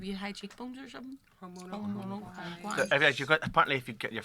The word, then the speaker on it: Quomodocunquize: Quomodocunquize. It sounds like anti-clockwise, only somebody who's had a stroke.